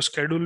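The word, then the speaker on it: schedule: इसको अगर आप और एडवांस में देखेंगे तो आप इसको शेड्यूल भी बोल सकते हैं भाई, आप उसको स्केड्यूल भी प्रोनाउंस कर सकते हैं, शेड्यूल भी बोल सकते हैं।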